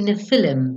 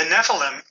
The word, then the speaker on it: Nephilim: And finally, Nephilim, Book 5, and the most recent story introduces